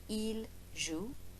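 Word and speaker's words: ils jouent: ent eel L zoo but we don't pronounce the ENT pesky old French and the letters that they don't pronounce but here we go so eel zu l jewel for the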